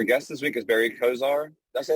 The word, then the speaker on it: Coziahr: this week is Barry Kozar that's right Kozar or Cozier it's because I heard it rhymes with desire desire okay our guest this week is Barry khizire he's a Serial entrepreneur